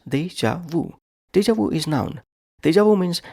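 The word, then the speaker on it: déjà vu: word is deja Wu Deja wuu is three syllables Deja Vu deu is noun theu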